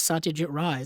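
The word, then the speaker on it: Satyajit Ray: And she yeah she pronounced it as Satia Jit Ry.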